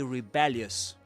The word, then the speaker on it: rebellious: And the accent goes on the second syllable in the second word.